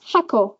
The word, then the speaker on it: 箱: So she has hako with a full, hakoda, that one's flat, and then hako o akeru, that one's got an accent on the ko.